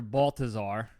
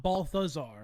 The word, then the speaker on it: Balthazar: of Nick Cage's character Balthazar. Balthazar, not Balthazar. No, it is, Balthazar. but that's how I pronounce it. It was with a hard T. Yeah, hard TH.